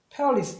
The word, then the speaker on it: perilous: 액센트가 없으면 A 발음이 A 그다음에 자음 하나 껴있고 E로 끝나서 무조건 E로 발음을 해요. 그래서 페어리스가 되는 거예요. perilous 이런 식으로 발음을 해주거든요.